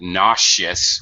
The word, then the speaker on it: nauseous: the adjective um and for some reason we nausea we use a z sound nauseous we change it to an sh sound this is kind of